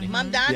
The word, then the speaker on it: Mamdani: New York Mayor Zofran Mamdani. Did I say it right? Mamdani.